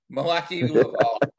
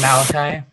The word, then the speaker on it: Malachi: back to work uh milwaukee it's pronounced malachi malachi sorry it's okay everybody gets it wrong